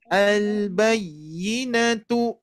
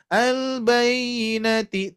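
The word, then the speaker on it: الْبَيِّنَةُ: Oke, berikutnya al-bayyinatu. al-bayyinatu. Nah, ini nanti akan banyak huruf-huruf yang bertasydid. Mohon dipraktekkan dengan mensukunkan dulu ya, Bapak Ibu sekalian ya. Jadi tidak al-bayyinati tapi bayyinatu.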